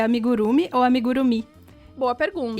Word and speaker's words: amigurumi: bastante da cultura japonesa, ele falou que não tinha tônica. Olha. Que na verdade é como se todas as sílabas fossem tônicas. Então não tem amigurumi, nem amigurumi e nem amigurumi. Meu Deus. É tipo como se fosse amigurumi, tipo tudo junto, assim, então, sabe? É algo impossível de falar, já que a gente tá acostumado a que toda palavra tem uma sílaba tônica, né? Tipo, impossível. Então pode falar de qualquer jeito.